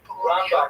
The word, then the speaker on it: Rambam: Rambam is pronounced with the emphasis on the first syllable, Rambam, and Ramban is pronounced with the emphasis on the second syllable.